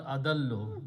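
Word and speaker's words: أضلّ: Two lams can be written with a shadda, so it becomes adallu.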